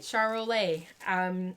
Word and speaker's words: Charolais: Oh, I did say it right, Charolais.